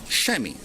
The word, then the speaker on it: chamois: Chamois. The same thing I clean my car with.